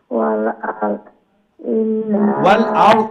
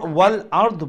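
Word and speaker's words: والأرض: মা ফিস সামাওয়াতি, মান ফিস সামাওয়াতি ওয়াল আরদ ওয়াল আরদ বলবেন না, ওয়াল আরদি। আমরা যখন যদি এখানে আমরা স্টপ হই তাইলে হবে ওয়াল আরদ। এখানে দাদের নিচে তো জের আছে, জেরটা উচ্চারণ করতে হবে।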